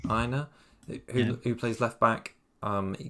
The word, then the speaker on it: Aina: It's just Aina. Aina, who plays left back.